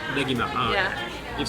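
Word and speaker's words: ねぎま: Negima. Negima.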